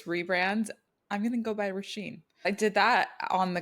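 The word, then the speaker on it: Rashin: I'll tell you guys the right way you pronounce it actually so this is the way you would say it like in the mother tongue ra sheen raash sheen it's like raw and then Sheen yeah but the white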